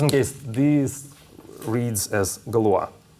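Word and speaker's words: Galois: discuss what's called the Galore random generator okay just in case these reads as Galore it's impossible to like guess the correct pronunciation of this word because he was French okay um now um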